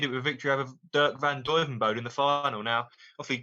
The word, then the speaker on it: Dirk van Duijvenbode: Dirk van Duijvenbode.